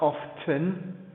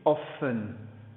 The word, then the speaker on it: often: pronounce that it's not often it's often the T is silent okay yep okay then